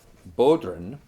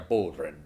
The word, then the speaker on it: bodhrán: It's weird to say that because you really have to say it like you're Irish to make it sound like a Bodhrán, like a Bodhrán.